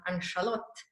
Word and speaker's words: Ann Charlotte: in sweden and so the nickname for aunt charlotte which in swedish is pronounced anchalot language barrier of changing